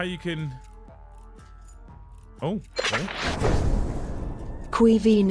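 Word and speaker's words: Caoimhín: Cuivine is how you pronounce it.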